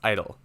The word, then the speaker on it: IDLE: and learning environment or idle for short pronounced idle to launch this click